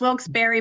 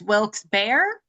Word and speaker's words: Wilkes-Barre: How do you pronounce the second half? Yeah, so I lived there for a little bit. It's Wilkes-Barre, but if you are a local, it's Wilkes-Barre.